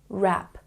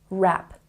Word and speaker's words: wrap: on the r sound wrap wrap and here don't say the W because you know that when w is before the r we omit the sound and we simply say